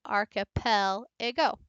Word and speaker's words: archipelago: in different places too, like archipelago, archipelago. So pel, I dropped.